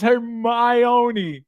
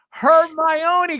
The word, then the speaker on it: Hermione: It's Hermione. There we go. Hermione, guys. It's not. No, you're putting the emphasis in the wrong place.